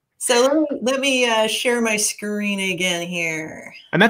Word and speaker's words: em: So like so let me share my screen again here. And that's this is pronounced an M and a REM.